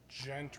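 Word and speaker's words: Ghent: probably sneak away with still being able to pronounce total so so there's a a street nearby it's gent road g-h-e-n-t and i um a few years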